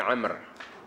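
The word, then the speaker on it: عمرو: ro lalu di hujungnya ada W Amr itu kan dibacanya bukan Umar tapi Amr keduanya untuk membezakan antara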